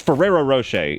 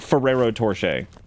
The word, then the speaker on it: Ferrero Rocher: the little Suite is it's Ferrero Rocher it's not Ferrero torche it's not like it's not that's not what it is I've said it wrong